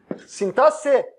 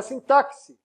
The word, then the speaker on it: sintaxe: a morfologia ea sintaxe sintaxe não é sintáxi tas e mesmo com